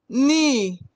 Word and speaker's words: knee: KN in knee, knife, no. Letter K is silent.